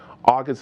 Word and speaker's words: August: pronunciation the right way i'm supposed to say your name just like an hour and a gust in the end so just shorten it out august august how